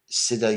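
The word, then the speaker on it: Siddha: with is called the Sid yoga prison project is spelled s d d ha Sida yoga prison project and it's been going on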